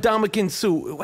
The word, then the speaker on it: Ndamukong Suh: Yo, we talked about Ndamukong Suh.